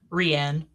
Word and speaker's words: Rian: Yeah, so the part with how do you pronounce, is it Rain or Rianne? Rianne.